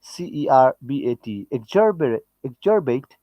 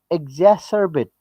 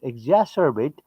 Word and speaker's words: exacerbate: except exert it e-x-a-c-e-r-b-a-t exorbitate exacerbate this is the pronunciation exacerbate existing inequality within societies